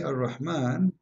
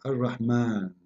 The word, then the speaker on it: Ar-Rahman: So if we say Ar-Rahman in the Quran, it's coming the alif very short, but you hear me pronouncing the alif, Ar-Rahman, Ar-Rahman. This is not a fatha only, it is a letter, there is an alif here.